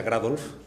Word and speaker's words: Grados: muchas gracias lo primero mi apellido se pronuncia grados nos han dicho muchas